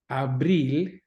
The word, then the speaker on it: abril: Abril, abril, remember that I, that E sound, don't give me abril, doesn't like April, doesn't rhyme with April, and abril.